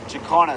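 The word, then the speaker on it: jacana: did you find that bird how do you spell it oh yes okay jakarna so it's j-a-c-a-n-a-j-a-c-a-n-a let me just get a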